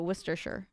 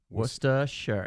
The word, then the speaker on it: Worcestershire: That's spelled that way and then just sure at the end. So Worcestershire. Worcestershire, yeah.